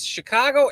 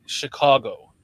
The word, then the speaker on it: Chicago: this, and you were talking like, and you had just this Chicago accent going while you were talking, and you